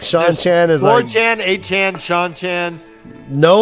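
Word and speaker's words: Seanchan: Is Sean Chan is? Shanshan. Oh, is Sean Chan. Sean Chan. Yeah, Yeah, S-E-A-N, it is like some Sean.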